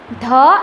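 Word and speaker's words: the: कभी कभी हम ध भी बोल सकते हैं एंड समटाइम्स हम उसका प्रोनाउंसिएशन एज धी भी करेंगे। ध एंड धी। तो जब भी नाउन कॉन्सोनेंट है तब हम ध बोलेंगे एंड जब भी नाउन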